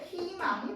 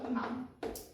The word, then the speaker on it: 희망: 그리고 마지막으로 무조건적으로 절대 의로 발음할 수 없는 딱 하나의 케이스는요. 초성에 자음이 올 때입니다. 요럴 때는 희망이 돼요. 희망.